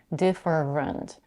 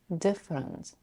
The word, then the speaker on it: different: as having three syllables deferent in practice I mostly hear people pronouncing it with two syllables different this is what Ashley